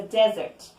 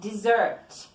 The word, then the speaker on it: desert: This is a desert. We need to be very careful with the pronunciation of desert, okay? It is not dessert.